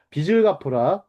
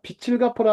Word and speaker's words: 빚: 아 여기서 빛이라고 썼네요. 치우스로 썼었네요. 빚을 갚아라. 제가 발음을 잘못해. 빚을 갚으라. 맞습니까? 빛을 갚으라 하면 안 되죠.